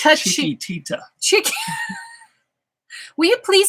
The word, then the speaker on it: Chiquitita: It's not Chiquita. It's Chiquitita.